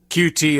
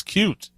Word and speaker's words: Qt: noticed that because ever most people do using qt instead of cute which yeah annoys your ass it does not annoy me it's just that that's yeah the people who who wrote cute say it's cute they're the ones who